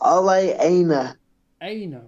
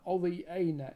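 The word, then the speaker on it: Ola Aina: would you pronounce that it's OA Ana right thank you uh Olie Ana in the 78th minute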